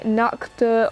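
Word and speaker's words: Nacht: four we have now there's two ways of pronouncing this i think i actually don't know the proper one i'm going to say nakhta until then um so knack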